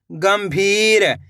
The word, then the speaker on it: गंभीर: मन ड ल मंडल गम भी र तो मिलके बन जाएगा गंभीर इस शब्द के अंदर भी अपन आधा मा का उच्चारण कराए सुन द र सुंदर